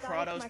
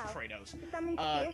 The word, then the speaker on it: Kratos: They pronounce it Kratos, but it's Kratos.